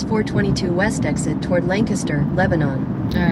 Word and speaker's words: Lebanon: It's not Lebanon, it's Lebanon. I know it's spelled Lebanon, but it's Lebanon.